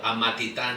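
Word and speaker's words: Amatitán: And then I stumbled across this distillery, Revesca, in little town called Amatitan Halisco. I'm saying it slowly so everybody can pronounce it correctly.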